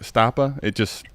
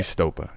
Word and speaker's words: Stopa: Like Stoppa, it's probably where it came from my brain. But now that I know the correct pronunciation, it'll always be Stopa.